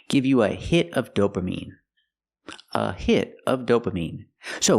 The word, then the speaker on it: dopamine: pronounced dopamine it's pronounced dopamine I have to use the long e sound like green beans dopamine I cannot use a short I sound like this is dopamin the word is pronounced dopamine what is dopamine it's